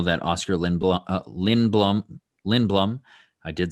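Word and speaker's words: Lindblom: and we know that oscar lindbl lin blum lin blum i did say it correctly um won that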